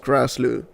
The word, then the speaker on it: Grassloo: Uh, my name is pronounced Grassloo. Uh, if you want to pronounce the double O, it's just, yeah, double O just like in 007, Golden Eye, all that.